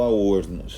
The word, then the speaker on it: Aornos: que trata exatamente o al horno né o nome diz tudo né o nome é o digamos assim a pronúncia original daquilo que você iria ser chamado de avernus né que é o